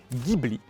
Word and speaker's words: Ghibli: La direction qui pointe vers ce bâtiment se prononce Gibla. Ainsi le vent du désert qui souffle dans cette direction s'appelle Gibli.